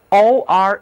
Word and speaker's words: ore: ORE 这个词也表示矿石，这个词的三个字母合在一块儿，只读一个长元音，or，矿石、